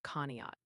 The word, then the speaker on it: Conneaut: Also, the chat's letting you know Conneaut, Ohio is pronounced Conneaut.